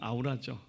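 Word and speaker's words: aura: 이게 아우라는 말이 정확한 영어 발음은 아닌데 우리식으로 읽으면 아우라죠.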